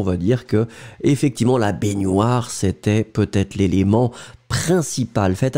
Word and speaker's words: baignoire: C'est féminin, baignoire, hein, pour la prononciation, c'est gne, baignoire, une baignoire.